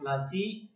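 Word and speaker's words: Palashi: प्लासी इज an English side pronunciation of प्लासी एंड द प्लेस derivative it's name from the प्लास tree known for its beautiful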